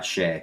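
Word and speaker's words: Skjei: I say Shea, but Brady I don't know if Shea. that's right. Yeah, Shea.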